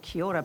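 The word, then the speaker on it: Kia ora: said Kora and this is how you say Kiora back CH Tui lives in my garden because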